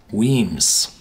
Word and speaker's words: Wemyss: moved to toast them remember it's pronounced Queens it's spelled w e my SS Weems yeah the name means caves in Scots and